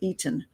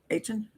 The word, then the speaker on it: Eitan: It's called After Eaton. And it's Eitan. Oh, sorry, I forgot how to pronounce his name again.